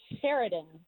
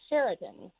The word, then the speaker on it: Sheridan: don't pronounce it correctly most people think it's sheraton and they're like oh like the hotel sheraton how do you spell